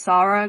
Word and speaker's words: Sara: Also, I just wanted to say my name is pronounced Sara cuz I'm from Poland.